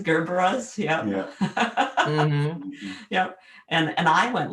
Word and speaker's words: Gerbera: And It reminds me of when I worked at Bordine, somebody came in and wanted gerbil daisies. Gerbil daisies, as in Gerber daisies, Gerberas, yeah.